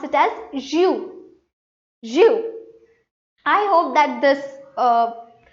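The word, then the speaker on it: jus: not pronounced as because S here is silent but we pronounce it as zu.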